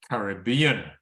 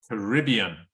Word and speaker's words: Caribbean: the variety of English being used for example Caribbean Caribbean that's American English Right Caribbean Caribbean was uh